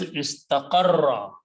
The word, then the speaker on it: istaqarra: Okay, so now the next thing that will happen is, because when you have two similar letters together, you can pronounce them by putting a shadda instead of writing twice. So the word is istaqarra.